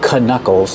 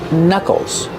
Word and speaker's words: knuckles: We see with the word knuckles, the K in the beginning is silent. We don't say knuckles, they're called knuckles.